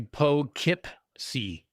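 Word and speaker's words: Poughkeepsie: It's actually Po Kipc.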